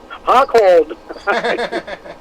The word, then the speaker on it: Rockhold: that hot cold no the brazilian portuguese pronunciation hot cold but uh pasta um